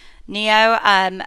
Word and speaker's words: NIO: an update on what I think is pronounced NIO. It's NIO. NIO.